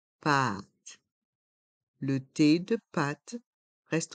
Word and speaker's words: pâte: et un paqué pâte le a avec un accent circonflexe est un A qui est long a pâ a pâte le thé de pâte reste en suspens pâte pâte un paquet de